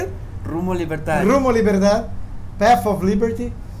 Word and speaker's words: Rumbo Libertad: Rumbo Libertad.